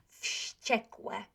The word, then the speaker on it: wściekłe: I told you that we pronounce W as V, yeah? But there will be a situation when this W, this V, will become unvoiced.